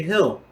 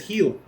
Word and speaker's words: hill: But when I hear people mispronounce, my wife can't say hill. She says heel. Heel. Like the fucking your foot.